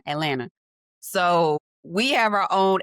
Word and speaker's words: Atlanta: And here in Atlanta, Atlanta, like you see, we don't say Atlanta, that's three syllables. We say one Atlanta.